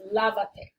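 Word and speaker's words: lávate: end of the command, and the accent goes on the vowel that's strongest before you added the pronoun. In this case, lavate, so it's pronounced lavate.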